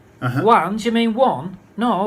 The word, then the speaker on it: Juan: She said, Juan, do you mean one? No, Juan. She said, do you mean one? No, I don't understand. Then she said, oh, you mean Juan. Juan.